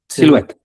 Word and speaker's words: silhouette: We use the Silhouette analysis to Silhouette, French people. Silhouette. Well, if there is a French word, it means that you can throw away 50% of the letters and the pronunciation doesn't change. Okay, think about croissant, or think about whatever. So just silhouette, yeah.